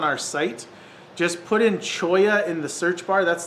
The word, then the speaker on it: cholla: pull it up it's c-h-o-l-l-a chola or chula however it sounds that's how it's spelled chola but choya is a really cool wood